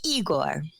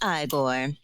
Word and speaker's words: Igor: between two characters you must be eigor no it's pronounced igore but they told me it was eigor well they were wrong then weren't they and the question